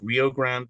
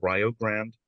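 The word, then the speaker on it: Rio Grande: in oh called um uh it looks like Rio Grand but it's pronounced Rog grand um and they have a Welsh studies Department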